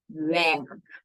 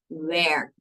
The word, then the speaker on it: werk: And work rhymes with twerk and minus the T, which is then with our pronunciation, werk. Not work, but werk.